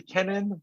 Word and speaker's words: Kenan: director uh Mr Gil Keenan have I pronounced your name correctly that's yeah I I I also answer to Kenan but uh but both are yeah Kenan but both are sufficient to the other okay um can I